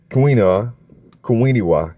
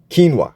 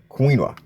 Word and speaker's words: quinoa: Oats and um oats and kina kiniwa. Am I pronouncing that right? Quinoa. Yeah, quinoa.